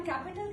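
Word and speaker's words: Kapital: अब देखिए हम कैपिटल कहते हैं अंग्रेजी में। वो कापिटाल बोल रहे हैं।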